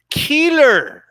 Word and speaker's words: Keeler: Demetrius Andrade defeated Luke Keeler. Okay, this dude's name is pronounced like the way Mexicans pronounce killer.